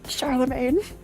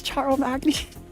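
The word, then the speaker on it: Charlemagne: was R it's not rendes it's Rondevu French Charlamagne I thought it was charl Magny Charlamagne in your country he's called Carol the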